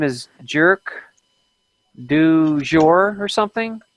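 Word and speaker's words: Jerq du Jour: I think her name is Jerk du Jour or something. It's spelled like JERQ, separate word DU, separate word, what did I say it was? Jerk Jour? du Jour, JOUR.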